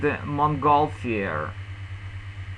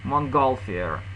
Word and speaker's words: Montgolfier: That means that in English you will have to read Montgolfier. Montgolfier, okay?